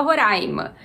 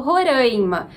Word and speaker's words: Roraima: mas a gente fala Roraima eu que venho de Minas Gerais moro em São Paulo fala o Roraima Então essa variação é possível não tem nenhum problema que se fale das duas maneiras se a gente quisesse